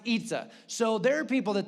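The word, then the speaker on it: 椅子: And in Mandarin, the word for chair is Y-I-Z-I, and you're like, they don't have our letters. I know, let's not go too deep, but it's pronounced Itza.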